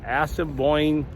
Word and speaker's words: Assiniboine: So another thing to do while you're in Manitoba is you can walk along the, I think it's pronounced Assiniboine River.